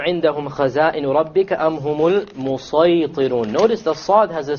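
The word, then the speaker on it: المسيطرون: It is better to pronounce it as a sad.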